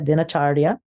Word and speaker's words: dinacharya: I hope I pronounced that, D-I-N-A, acharya, dinacharya. It's how you say it, your daily routine.